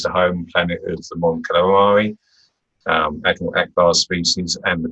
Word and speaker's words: Mon Calamari: But the Mon Cal is the home planet of the Mon Calamari, Admiral Akbar's species, and the Quarren. So they share the planet, two aquatic species. They're really called Mon Calamari, as in calamari in squid.